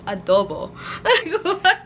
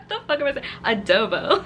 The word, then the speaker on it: adobo: and adobo from ew why did i say it like that i am filipino it's adobo adobo as if i'm freaking american it was an april pick